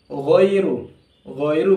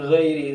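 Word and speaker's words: غَيْرُ: Ajrun ketemu huruf ghain ya, ajrun ghairu bukan ghairi, kadang orang baca ghairil maghdubi, ghairi salah, tapi ghain, huruf ghain dia tafkhim ya, tebal.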